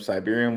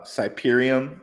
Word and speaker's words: Siberium: joining fan now ecosystem Siberian will uh siberium I always say their name wrong siberium will breach the